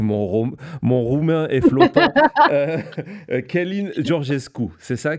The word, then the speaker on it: Călin: Heu, Călin Georgescu, c'est ça? Călin, Oui, comment on dit? Colline. OK, c'est pareil. Donc monsieur Georgescu, voilà, qui